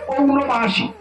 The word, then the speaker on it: পৌর্ণমাসী: তো এই এখানে মাস উচ্চারণ করতে হবে পৌর্ণমাসী।